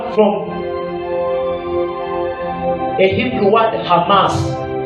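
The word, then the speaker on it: חמס: from a Hebrew word Hamas c h a m a s it is mentioned ha not CH Hamas pronunciation is k h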